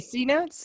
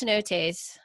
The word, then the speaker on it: cenotes: You mean cenotes or? No, it's pronounced cenotes, and it's a spring mineral water pool, and then it kind of flows.